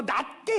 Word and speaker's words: 낮게: 아, 제가 이럴 땐 발음이 안 좋은게 늘 회개가 되는데 낮게라는게 지받침이 아니라 씨웃 받침이에요. 나보다 남을 낮게 옆사람 보고 인사합시다. 저보다 훌륭하십니다. 시작. 저보다 훌륭하십니다. 신앙생활이란 나보다 남을 더 낮게 여기는 거예요.